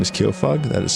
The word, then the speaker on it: Kyofug: All right, to reiterate, my name is Kofug. That is spelled K Y O.